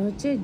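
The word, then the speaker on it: ح: এটা হচ্ছে জিম। এটা একটু চেপে বলতে হবে। আর এটা তিন আলিফ পরিমাণ টেনে বলতে হবে। জিম হ এটা হ। গলার ভিতর থেকে আওয়াজটা আসবে।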